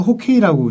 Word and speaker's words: 호케이: 해방 이후에 둘 다 빙구라고는 쓰지 않는데 북한에서 호케이라고 이제 썼잖아요. 아, 이제 호케이. 이게 러시아식 발음이라고 합니다. 아, 네. 하키를 러시아식으로 발음하면 호케이가 된다. 이렇게 오케이.